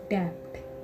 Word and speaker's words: debt: बाद टी भी आया, बी के बाद टी भी आया, तो हमारा बी लेटर साइलेंट होगा। DEBT, डेप्ट। याद रखना, बी के बाद टी आता है तब भी हमारा बी लेटर साइलेंट होता है, डेप्ट।